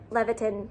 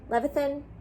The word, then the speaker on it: Levithan: at some point i will and also david leviton levithan ah say his name right caitlyn i should